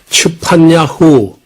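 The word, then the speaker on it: צפניה: 스바냐 이렇게 음력을 했는데에 제대로 한 반 발음이 쉽지 않지만은 츠판 야후 원래 이름은 츠판 야 후라는 말인데 어이 말은 여호와는 숨겨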